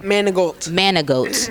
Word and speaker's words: Manigault: So I'm sitting here with the star of Jason's Letter, who plays Jason, Jamol Manigault. I said it right? Manigault.